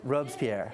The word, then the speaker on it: Robespierre: Robespierre.